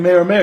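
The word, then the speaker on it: Meyer Meyer: dynamic is perfect and i keep saying mayor mayor because that's actually his name mayor mayor yeah it's yeah it's spelled m-e-y-e-r-m-e-y-e-r so his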